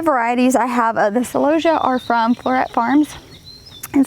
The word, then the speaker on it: celosia: So I kind of did on the back half is all of our celosia, some pronounce it celosia, and then kind of upward we have all of our grasses.